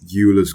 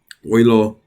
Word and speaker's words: Euler: this is called um Euler's constant or Euler's constant oylo see people don't know how to say his name people say Euler or you lost something